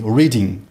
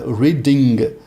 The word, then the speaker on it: reading: Então, reading, na realidade, nós brasileiros só vamos escutar até o N, reading, reading. Mas, na realidade, a pronúncia correta dele é um N com um G bem fraquinho, reading.